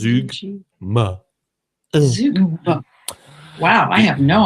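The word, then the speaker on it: zeugma: No, well, it's Z-E-U-G-M-A. Oh, G. And the pronunciation is Zugma.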